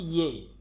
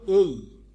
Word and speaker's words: A: তারপর শুরুর অক্ষরটাই আমরা ভুল উচ্চারণ করি, শুরুর লেটারটা আমরা এতদিন পড়ে আসছি ইয়ে, কিন্তু এটার উচ্চারণ হবে এই এই এই।